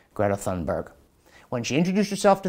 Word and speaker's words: Greta Thunberg: say they're big fans of a person called Greta Thunberg.